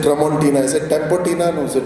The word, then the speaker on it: Tramontina: what was that knife of yours he said Tramontina is it Tempa no it Tramontina so it's interesting I think a couple of